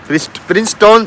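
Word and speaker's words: Princeton: Sorry प्रिंस्टन से प्रिंस्टोन से ये भाई शहर का नाम है। एक्सैक्टली स्पेलिंग है प्रिंस्टोन। लेकिन इसे प्रिंस्टन बोलते हैं।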